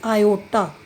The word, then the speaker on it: iota: So under root minus 1 इज रेड एज आयोटा, और इसके spellings हैं IOTA, आयोटा. इसको हम IOTA से पढ़ेंगे एंड we read इट एज आयोटा.